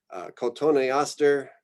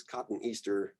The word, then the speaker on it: Cotoneaster: While you're pronouncing words, I strongly recommend that you give a syllable to each new vowel sound. So cotoneaster. This is kind of tempting, I think, to pronounce this as cotton Easter.